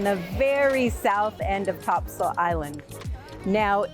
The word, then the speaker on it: Topsail: very south end of Topsail Island now it's Topsail even though it's spelled top sales so make sure when